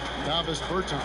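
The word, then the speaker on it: Dāvis Bertāns: Oh, well, now, at this point in my life, it's Davis Bertans. Is that how you say it? Davis Bertans.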